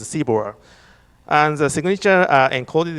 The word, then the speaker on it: CBOR: The MDL is structured in a format called CBOR, which pronounces CBOR.